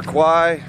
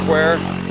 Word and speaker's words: Kwai: Most people in the west, though, call it River Kwai, but it is pronounced Kwai.